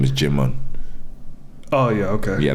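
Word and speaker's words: Djimon: so his name is jimm oh yeah okay yeah I think the D is silent soim hu great actor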